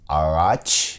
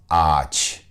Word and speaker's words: ağaç: For instance, this word, it was supposed to be pronounced araç, but it is pronounced ağaç. Ağaç. All you hear is a long A sound, no breathe G sound.